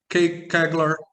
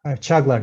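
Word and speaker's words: Çağlar: Am I saying it correctly? Kagler? Chaglar, yes. Chaglar. Okay.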